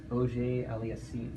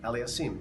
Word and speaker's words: Auger-Aliassime: So maybe you can share with me, how do you pronounce his last name? Felix Auger-Aliassime. Aliassime.